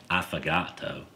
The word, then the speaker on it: affogato: How's it pronounced? Affogato.